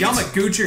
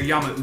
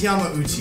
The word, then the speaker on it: Yamauchi: Is it Yamaguchi or Yamauchi? I believe it's Yamauchi. Yeah, I think it's Yamauchi.